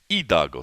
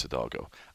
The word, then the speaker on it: Hidalgo: He is in Hidalgo, Texas, or as I've been told to pronounce it right, Hidalgo, Texas. But for us gringos, it's Hidalgo. I, on the other hand, am in San Luis Potosi, Mexico.